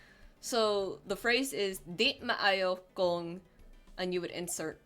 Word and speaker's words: maayo: Di maayo. When it's Bisaya, when it's Filipino, you pronounce both A's.